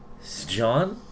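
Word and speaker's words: Sjón: Sjon? It's Sjon.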